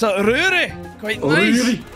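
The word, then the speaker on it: Rorie: And your pronunciation is Rory.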